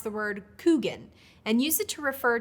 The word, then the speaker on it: Kuchen: In North Dakota, however, people generally pronounce the word Kuchen and use it to refer to a specific